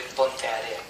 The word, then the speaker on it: Ponteareas: de Ponteareas. Se pronuncia Ponteareas, que es Puente Arenas en español.